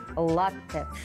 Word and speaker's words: латте: говорить лат или лат довольно часто это слово произносится ударением на последний слог однако Это неправильно Ведь оно итальянского происхождения здесь действует правило языка источника в итальянском языке ударение падает на предпоследний слог что правильно говорить латте А вот есть ещё